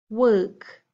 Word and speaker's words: work: pronounce them if not think about the shape of your mouth wha ah that tall